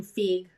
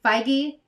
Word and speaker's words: Feige: at one of the panels they basically kevin feig feig fig how do i pronounce it feige sorry up to you whatever um he announced